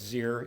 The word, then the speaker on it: Zier: Just for the record, it's Zier. It rhymes with beer.